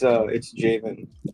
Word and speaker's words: Jaivin: How do I pronounce it? No, it's beautiful. Is it Jaivin? Jaivin? It's Jaivin.